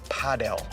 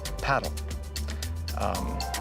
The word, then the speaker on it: padel: All of the pros say padel. A lot of European countries have always said paddle. Some areas in France and some in other kind of European companies say padel.